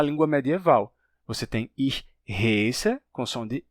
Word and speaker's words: heiße: Então, eu me chamo era ich heiße. Esse ditongo, ei, terminou se tornando ai em alemão padrão. Portanto, eles pronunciam isso hoje em dia como ich heiße, que pode ser escrito de duas formas.